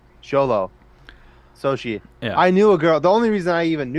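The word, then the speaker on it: Xolo: if I remember correctly he said it's pronounce sholo yeah which makes sense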